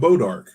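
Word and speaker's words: bois d'arc: Yeah, it's pronounced Bo Dark, but it's spelled Boys de Yeah, Arc.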